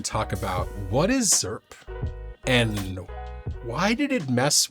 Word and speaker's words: ZIRP: said yes and so we are saying the word zerp zp yeah you gotta say it like that you gotta say it